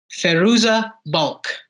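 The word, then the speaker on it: Fairuza Balk: or water boy I think I want to pronounce her name right uh it is feruza bulk do you know who that is the name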